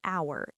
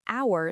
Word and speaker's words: hour: For example, we say an hour even though hour starts with the letter h which is a consonant. That's because the h is silent.